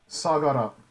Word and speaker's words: Sagara: going to talk about sagara or how is it is it pronounced sakura or sagana sagara yeah is we find out that